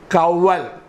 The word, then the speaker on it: coeval: Coeval. C-O-E-V-A-L. Pronunciation is coeval.